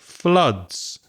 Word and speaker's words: flood: And the opposite is when it floods. F-L-O-O-D. The vowel sound there is the same as blood, flood, the sound.